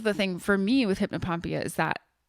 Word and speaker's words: hypnopompia: Yeah, hypnopompia, if I'm saying it right.